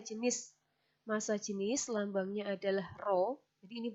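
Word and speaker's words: rho: selanjutnya adalah masa jenis massa jenis lambangnya adalah roh ini bacanya oh nah massa jenis itu punya rumus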